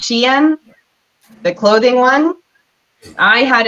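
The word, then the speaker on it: Shein: an issue with um I called it Sheen at first but it's pronounced Shen the clothing one I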